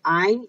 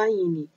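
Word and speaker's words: Áine: pessoas dizendo, a deusa Aine. Não é Aine, é Ain, tem um acento aí, tem uma sílaba forte aí.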